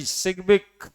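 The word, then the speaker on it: Sidgwick: Balance cell electron pair repulsion theory given by सिग्बिक, D silent रखना, एंड पॉयल।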